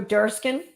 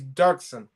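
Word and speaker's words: Doerksen: Joe Durskin? Yeah, boy, you don't remember, huh? Yeah. Joe, it's Dirksen. Joe, you pronounce it Dirksen.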